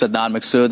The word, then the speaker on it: Adnan Massoud: I appreciate it today so my name is Adnan Massoud and I'm the founder of vision ministries and